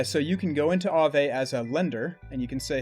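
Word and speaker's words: Aave: lenders meet borrowers are ave that's spelled two a a v e yeah right yep that's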